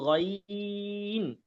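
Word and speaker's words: غين: জায়গা থেকে গ হবে হবে তাহলে এটা হবে গাইন গাইন গাইন এই দেখেন এখন গ ইন আলাদা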